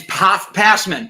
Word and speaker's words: Pasman: embarrass myself in front of you passport it's passman perfect all right i have many questions we